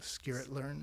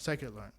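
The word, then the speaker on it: scikit-learn: So, this is a company that that the tech they use, and I'm probably going to say the name wrong, Skiritlearn. Psychedelarn. Psych learn.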